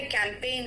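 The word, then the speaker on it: campaign: Assign, इसका मतलब कोई कार्यभार सौंपना, एंड साइन एंड कैंपेन, देखो ध्यान से यहाँ पे कैंपेन कहा है मैंने, यानी APAIGN कहा है, कैंपेन।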